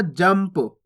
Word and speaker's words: जंप: अगर पा आएगा, फा आएगा, बा आएगा, भा आएगा, तो वहां पे आधा माँ का उच्चारण कर देंगे अपन, यानी कि इसको कैसे पढ़ेंगे? जंप। जनप नहीं पढ़ना, जंप।